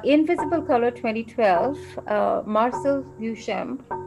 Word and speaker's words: Duchamp: quote you uh invisible color 2012 uh marcel duchamp how do you pronounce it yeah duchar yeah once said a title is an invisible